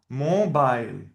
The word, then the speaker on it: mobile: So you know that this is pronounced not E, it is I, and the E at the end is not pronounced.